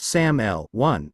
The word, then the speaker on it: SAML: Security Assertion Markup Language SL pronounced SAML1 is an open standard for exchanging authentication and authorization data between parties in particular between an identity provider and a service provider.